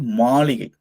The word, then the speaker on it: மாளிகை: Okay அடுத்ததாக இது மாளிகை. இது மாளிகைனா பேலஸ் அப்படின்னு சொல்லுவாங்க. பேலஸ் அரண்மனை. மாலி கை. மாலி கை. கைன்னா நெடில் எழுத்துல. நெடில் எழுத்து. சோ அதனால இத கை அப்படின்னு தான் உச்சரிக்கணும். மாலி கை.